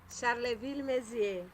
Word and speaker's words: Charleville-Mézières: Foi bolsista no Instituto Internacional de La Marionnette em Cher, pronuncio, que seu francês é muito melhor que o meu. Charleville-Mézières.